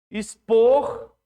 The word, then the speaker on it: expor: Expor, expor e extrair. Expor e extrair. São igual ou diferente? Expor e extrair. É como se fosse S, né?